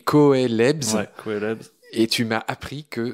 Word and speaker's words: coelebs: Ouais, ça s'écrit Coelebs. Ouais, Coelebs.